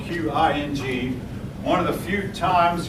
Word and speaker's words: Qing: by the Qing, spelled Q-I-N-G. One of the few times you'll see a Q without a U. Q, and that's pronounced Qing, as best as I understand it, at least.